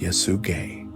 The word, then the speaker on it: Yesugei: His father was a respected, influential chieftain named Yesugei, pronounced Yesugei, whose standing derived primarily